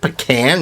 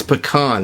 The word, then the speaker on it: pecan: It's pecan pie if you're from the deep south, but it's pecan pie if you're from Brooklyn. So I don't know.